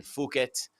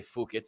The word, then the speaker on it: Phuket: These and Adesanya, all three of them at Tiger Muay Thai in Phuket. I always want to say Phuket for obvious reasons, because Phuket, why not?